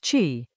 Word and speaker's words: qi: The vital breath, Chi, pronounced Chee, is the blending force, the active mixing of these poles that produces a living balance.